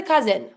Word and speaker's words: cousin: the cousin here pronunciation every time you have a s that is between two vowels z sound so here because the S is between the U and the I I'm going to be pronouncing it as a z i n here careful you don't pronounce the N why because the I